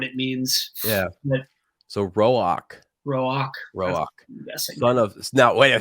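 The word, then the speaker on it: Roäc: Is it Rock or Rock? Roak. This Roak? is where Jim would come in handy because there's like the 2 dots over the A, and that's something linguistically that I can't remember what it means.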